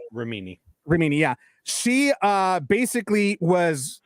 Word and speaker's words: Remini: And Leah Remini, she's I believe that's how I'm pronouncing her last name. Remini, yeah.